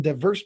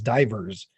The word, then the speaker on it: diverse: Well, Matthew 24, verse 7 says, "There shall be famines, pestilence, and earthquakes in diverse places." Although she says divers. She pronounced it divers, but it's diverse.